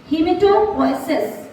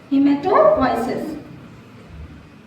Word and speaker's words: hematopoiesis: Sorry, मतलब answer is correct, but the pronunciation is not correct. Hematopoiesis is the correct option. Yes, answer is correct. We have to consider it, but the pronunciation is hematopoiesis.